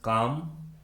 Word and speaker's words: calm: उस English word में L completely silent होता है, यानी L का किसी प्रकार से कोई भी उच्चारण नहीं किया जाता है। For example, PALM पाम, CALM काम, WALK वॉक, HALF हाफ,